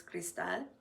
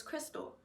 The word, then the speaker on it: Cristal: it I talk about my name being pronounced in Spanish which is Crystal my name being pronounced in English which is Crystal and it's just the